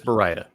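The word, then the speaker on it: Baryta: I believe it's Barita. Barita. Okay. And the reason I'm fairly confident of that is I met with the Ilford guys in the paper division, and they seem to pronounce it that way.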